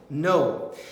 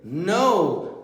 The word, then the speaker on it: know: Esse é curioso porque ele tem um K que não é pronunciado. Então, se você pegar a palavra não, know, e o verbo conhecer, know, a pronúncia é a mesma.